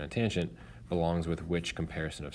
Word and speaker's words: tangent: the tangent which is abbreviated T an but again don't say tan just say tangent the tangent compares the